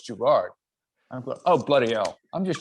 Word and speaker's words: Gerard: all right when i came up with gerald or and i said no it's gerard and then no and then somebody an american said no it's gerard oh bloody hell i'm